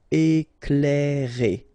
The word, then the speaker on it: éclairer: Okay, C and L together, you will pronounce this cl, cl. Éclairer.